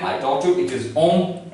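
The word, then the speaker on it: hommes: previous videos lessons that plurality does not affect the pronunciation of a French word. So to make it plural, I have added s, but its pronunciation will remain same. And the last is mute.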